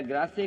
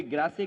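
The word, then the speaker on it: Grasse: France में perfume capital अगर है कोई तो कोई ग्रासे कहता है, कोई ग्रास कहता है। वो एक प्रोनाउंसिएशन है कि इंग्लिश या फ्रेंच जो भी कुछ है।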